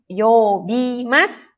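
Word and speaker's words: 呼びます: Ya, ini karena ketemu sama hiragana dibacanya yobimasu. Yobimasu, memanggil taksi.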